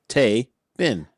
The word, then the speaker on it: Taebyn: heard this is like think of a big but of Tay instead and that's that's right So Tay bin table Yeah Adam I